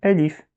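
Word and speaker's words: ألف: Donc on va dire Elif.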